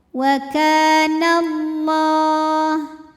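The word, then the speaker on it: وَاللَّهُ: Kaf panjang dua harakat waallah lam pada lafaz Allah atau lam jalalah dibunyikan secara tafkhim sebab huruf sebelumnya berbaris fathah maka dibacanya tebal la waallah kemudian Alif lamnya dinamakan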